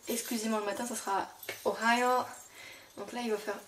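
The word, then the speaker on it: おはよう: le matin ça sera Ohio donc là il va faire il faut faire attention à bien prononcer le h et à doubler le O donc le O ce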